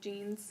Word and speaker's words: Jean: It's by an artist called, his name is James Jean, like Jean or Jean, spelled like jeans. Jean. Like blue jeans, yeah.